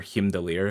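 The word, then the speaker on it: Heimdall: Thor and H but heimall or himer if you want the real pronunciation is very likely to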